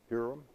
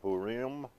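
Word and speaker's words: Purim: weekend that purum and some some people some people pronounce that purm I call it purum because P I am is just purum to me and it doesn't it doesn't break it down any differently than that so come in brother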